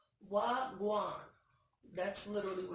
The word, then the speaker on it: Wagwan: The first one in the fourth row is called Wagwan. That's literally what it's called, and it's spelled WHA-GUWAAN, like they saying what's going on, I think. I think it sounds like what's going on. Wagwan.